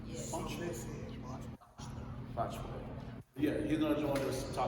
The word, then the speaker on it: Botchway: Botchway.